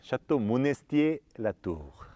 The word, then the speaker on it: Château Monestier La Tour: 여기가 샤또 모네스티에구나. 모나스트렐 같아요? 아, 여태까지 발음을 잘못했어. Excuse-moi. 샤또 모네스티에 라투르.